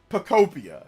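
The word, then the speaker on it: Pokopia: It's Pokemon plus Utopia. It is Pocopia.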